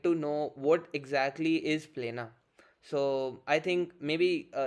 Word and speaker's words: Plena: of all and yeah you pronounce it right a lot of excuse me a lot of people mispronounce it uh they usually say piano so that's it and